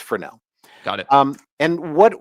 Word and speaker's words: Fresnel: And it looks like it should be pronounced Fresnel. Okay. But that's not not wrong. This is named after a French guy. And so we're leaving out letters and it's just for now, right?